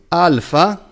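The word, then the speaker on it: ἄλφα: The only difference is that there are two variations, a short one and a long one. A and A. A. Yes. The long one is twice as long as the short one. Like the Arabic variations. Yes. Of A. Yes. Okay. And we have an English example, the word like. It might be difficult for English speakers because there are various A's, but not a clear A, as in Greek.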